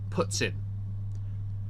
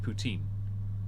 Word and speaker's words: poutine: eating uh poutine that she's called puts in because she's decided to be pretentious about the pronunciation and completely balls it up in the past she's outright said poutine but now she's decided